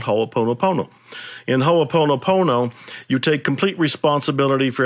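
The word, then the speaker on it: hoʻoponopono: referring to is a hawaiian spiritual system called ho opono pono don't have to remember it don't have to spell it don't have to say it but it's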